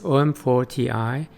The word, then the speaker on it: OM-4Ti: Like all other elements, it's pronounced similar to an acronym, so it's OM-4T i, like Nikon 28T i, not OM-4 Ti, just to clarify.